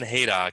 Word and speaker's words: Hayduk: And tonight we have Ron Hayduk. He's am I pronouncing that correctly?